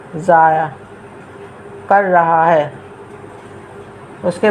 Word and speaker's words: ضائع: لکھا ہے، اس کو ضائع کا صحیح تلفظ ہے ضاد الف زبر زا حمزہ عین زیر ضائع کر رہا ہے۔ اس